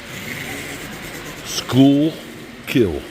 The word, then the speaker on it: Schuylkill: Here's Schuylkill Haven. For those of you who have no idea how to pronounce that. School Kill.